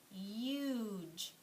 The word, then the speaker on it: huge: in this word now the e is silent but the you says its name right huge does huge make sense